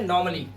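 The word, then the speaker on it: normally: ए क्या बोलते हैं नॉर्मली क्या बोलते हैं नॉर्मली तो यहां पर ए के बाद डबल एल वाई दिखाई दे रहा है तो ए को ना साइलेंट रखना है यानी कि आपको सिर्फ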